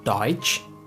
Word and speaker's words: Deutsch: Our next letter combination is T as ch, which is pronounced like the letter combination of ch in English. Here we have the example of Deutsch, which means German, and the word Tschüss, which means bye.